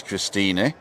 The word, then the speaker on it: Christine: This is Christina. Christina is spelt with an E. It's like Christine, but we pronounce the E, don't we?